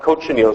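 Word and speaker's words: cochineal: Uh it's spelled coach chenille.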